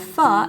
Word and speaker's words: pho: Pho is a Vietnamese noodle soup, and yes, pho is how it's pronounced, and yes, it's okay if you've been pronouncing it wrong for most of your life.